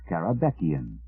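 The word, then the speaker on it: Karabekian: might actually find its way into dictionary caraban pronounced caraban noun from rabo carabean us 20th Century painter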